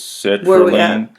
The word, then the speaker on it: sertraline: So, how do you pronounce this? Sertraline?